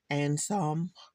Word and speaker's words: Ansaam: it, I was like, I probably would have said Ansaam, but I actually looked it up to see how do you actually pronounce it, and they said it was Ansaam, Ansaam Gold.